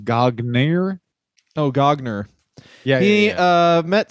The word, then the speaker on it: Gagne: gotch was actually there i think he mispronounced that it's actually pronounced gagner oh gogner he uh